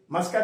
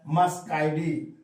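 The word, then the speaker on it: Muscidae: ही लगा देना है मस्का आइडी कुछ बच्चे मुसा या क्या क्या पढ़ते हैं तो मस्का से मस्का इडी एई है इसका मतलब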